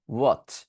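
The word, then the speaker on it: what: তাহলে এই যেহেতু এইচ নাই সেহেতু আমাকে উচ্চারণ করতে হবে। উচ্চারণ করে আমি বলবো ওয়াট। কি বলবো? ওয়াট ওয়াট ওয়াট ওয়াট ওয়াট।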